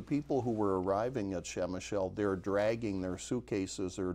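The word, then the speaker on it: Przemyśl: In the Polish language, there are a lot of consonants and very few vowels, but it's pronounced Przemysl.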